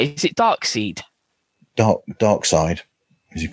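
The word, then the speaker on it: Darkseid: it dark seed dark dark side is it called or I think it's dark side the guy the guy who I think it's pronounced dark side but it's spelled dark seed or d r k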